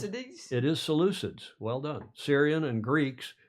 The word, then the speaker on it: Seleucids: I had to go listen to how to pronounce it. Seleucids? It is Seleucids.